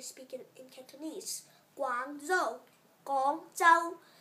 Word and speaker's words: Guangzhou: Guangzhou, Guangzhou. You say gong like so. Go like go.